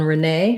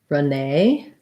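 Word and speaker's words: Renée: renee um so the the accent mark on renee shows me that nay is going to be stressed and americans will say that with the a diphthong so it sounds kind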